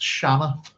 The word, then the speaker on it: Siona: But as I said, if that's the case, we're not pronouncing her name correctly. It's Shanna. And that's who she is,